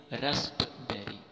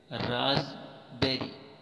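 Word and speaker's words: raspberry: रस बरी रसबेरी यह इसकी राइट प्रोनंसिएशन है ना कि रास्पबेरी यह गलत हो जाएगा रसबेरी राज इठा पढ़ेंगे राज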